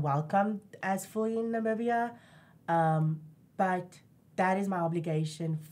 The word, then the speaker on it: Namibia: Africa's 54 countries okay how do you say it Namibia that's the English India then ethnic way is not media you just said it was an accent not me BIA yes because I always